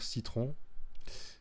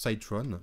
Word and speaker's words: Cyron: nom c'est Cyron oui ceux qui n'ont pas l'accent anglais onont dire citron mais voilà en prononce Cytron qui je pense doit